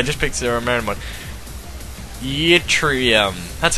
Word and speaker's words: Yttrium: Yttrium.